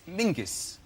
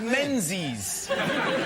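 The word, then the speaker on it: Menzies: His name is Mingus. Mingus. Yes. Goss. Yeah. M. Yeah, but it's pronounced it's it's spelled M E N Z I E S.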